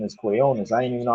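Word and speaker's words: Quiñones: That's what his name is, Quinones. I didn't even know how to pronounce his name.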